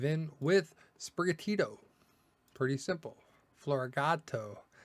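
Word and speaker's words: Floragato: Florigato, because cat in Spanish is gato, or something like that.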